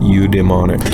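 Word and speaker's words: eudaimonic: are you pronouncing itre at the pronunciation you demonic you demonic you you demonic that's what the pronunciation key says uh definition please um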